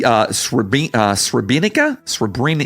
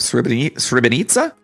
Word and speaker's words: Srebrenica: I think is like a it's almost like a TZ sound. Nitsa, I think is how it's pronounced. Srebrenica.